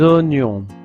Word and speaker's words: oignon: Alors normalement en français la combinaison de voyelle o i donne le son wa.